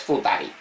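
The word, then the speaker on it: 二人: Y dos personas es Futari. Esto ya como palabra ya nos ha salido alguna vez.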